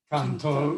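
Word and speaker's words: Cần Thơ: And then Cantor, it's spelled C-A-N-T-H-O. So people often call it Cantor.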